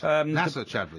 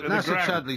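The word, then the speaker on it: Nacer Chadli: I do you know same pronunciation as the national aeronautic space I have understanding of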